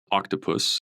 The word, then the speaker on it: Okhtapus: launching a platform called Octopus, OKHTAPUS. Can you tell us a little bit about Octopus and what your plans are with it? From new. I would pronounce that octopus. Exactly, because it's actually Farsi.